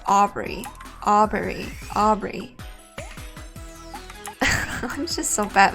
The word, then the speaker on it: Aubrey: Did I say her name wrong? I think I said like RB or something. It's Aubrey.